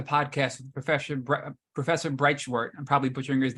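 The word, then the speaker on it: Breitschwerdt: with the professor professor breitshwart and probably putringer's name bright short I believe is how you say it he's from NC State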